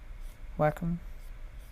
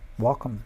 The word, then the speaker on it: Wacom: i'm just you know the wacom or wacom or however you pronounce it it has a wacom no welcome welcome that's how you say it i always get corrected